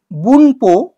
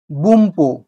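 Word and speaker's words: 文法: শব্দ দেখাবো আমি লিখেছি বুনপো বুনপো কিন্তু উচ্চারণ হবে বুম্পো বুম্পো কেননা এন পি এর আগে এসছে তাই এই এন টা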